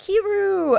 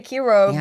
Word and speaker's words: Kiiroo: They're like, Kiiroo! And then we're but we say Kiiroo, but it makes fine, sense.